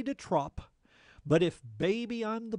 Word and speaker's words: de trop: We have to pronounce it de trop so that it rhymes with the top.